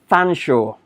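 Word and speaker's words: Featherstonehaugh: one I shout somebody shout out how to pronounce the last word it's bloody Fanshawe I've got no idea how that happens but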